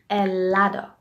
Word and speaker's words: helado: Me gusta el helado. Вы знаете, что у испанцев H буква H, оно не читается.